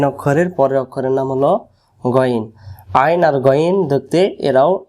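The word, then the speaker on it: غين: বাদ দেই এই যে এটা আইন নুক্তা থাকলে গইন নুক্তা না থাকলে আইন আর নুক্তা থাকলে গইন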